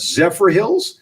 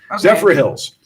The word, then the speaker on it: Zephyrhills: gentleman Ray Chavez 58 I don't want to say the city name because if I say it wrong it sounds like syphilis but it says Zephyrhills Zephyrhills Zephyrhills claimed a 1 million